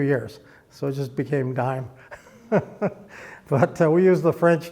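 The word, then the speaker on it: disme: And uh on the back of it, it says United States of America half deem or dism or dime if you want to call it the way it's pronounced.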